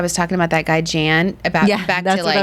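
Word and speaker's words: Jann: Except his name is pronounced Jan. It's not Jan.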